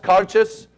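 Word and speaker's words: Cairdeas: It's pronounced Carches, just the way it's spelled, right?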